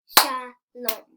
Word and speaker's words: Shalom: Shalom. Shalom. 2 syllables.